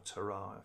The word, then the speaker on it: Torah: Now, the word for teaching in Hebrew is Torah, or Torah, if you want to pronounce it the Hebrew way.